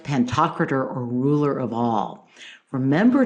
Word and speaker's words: Pantocrator: Dome was Christ pantocrator by the way I pronounced that wrong in my last podcast I've since checked it I should have then so Christ pantocrator or ruler of all